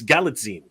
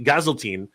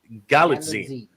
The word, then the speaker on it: Galitzine: I keep pronouncing it wrong. It's Galitzine. It is Galitzine. I used to say Gazeltine. It's actually Galitzine. So I'm getting used to it. Like a Visine. Yes, like a magazine.